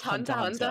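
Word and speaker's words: Hunter × Hunter: It's just it it's just pronounced hunter hunter hunter hunt the x is silent.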